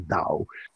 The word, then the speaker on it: Tao: artists or or taoist tower spell tao we pronounce the dao understand these things and